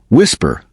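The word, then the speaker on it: WSPR: Whisper, pronounced whisper, short for weak signal propagation reporter.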